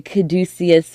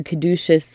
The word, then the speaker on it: caduceus: Uh now, not exactly the the caduceus or caduceus or however you like to pronounce it.